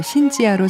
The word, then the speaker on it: 신지아: 알아서 바꿔서 활동 하게 됐습니다 이름을 바꾼 후 신 지하로 선보인 첫 무대는 격정 강 새 이름으로 관객과